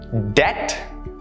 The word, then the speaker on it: debt: Let's look at a few more examples where the B sound is silent. Doubt, debt, climb, thumb, numb. Notice how the B sound was never a part of the pronunciations for any of these words. You never pronounce these words with the B in it.